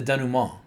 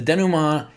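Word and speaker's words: dénouement: But there's also the second part and that's the denum. I'm pronouncing it the fancy French way because I took French in college. Um the denuma is when you have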